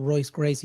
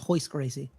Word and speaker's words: Royce Gracie: it's like it's like all the R's they pronounce it Like H so it's not Royce Gracie it's hoist crazy yeah it throws like